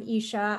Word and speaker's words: Isha: Is it Isha? Is that the way you pronounce it? Yeah, yes, it is. So yeah, hi everyone, I'm Isha.